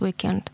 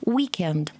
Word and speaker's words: weekend: Первое ударение будет week на week, будет основное ударение and полуударный слог weekend. Weekend.